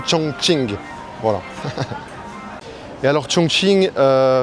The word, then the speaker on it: Chongqing: Ça s'écrit Chong King mais en fait si vous dites Chong King, les gens vont pas comprendre. Donc c'est vraiment Chong Ching.